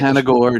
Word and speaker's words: Panagore: Let me get Panagore, no accent on the E.